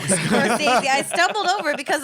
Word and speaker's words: Scorsese: First of all, he's going to come after you for saying his name wrong. Scorsese.